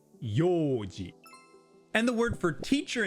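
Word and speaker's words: 用事: a but simply e So for yoji, which means plans, it's not pronounced yoji but yoji And the word for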